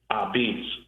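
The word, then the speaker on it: apizza: So what I did was in Wikipedia, the pronunciation of a pi va is a beats. Ah dash be e tz. Say it right.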